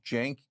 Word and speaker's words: Cenk: So my name is Cenk Uygur, but the C is pronounced like a J, which is unusual.